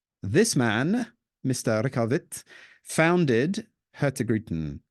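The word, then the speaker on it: Hurtigruten: man Mr rovit founded hertin or Heron as you heard Lynn saying earlier pronounced more correctly uh which serves Coastal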